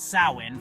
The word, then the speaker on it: Samhain: Rooted in the Celtic festival of Samhain, pronounced Samhain for those without the gift of Gaelic gab, Dublin's celebrations mark the